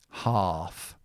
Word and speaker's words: half: And then here, uh this is also uh we don't pronounce the L, but it's a different sound. This is ah half.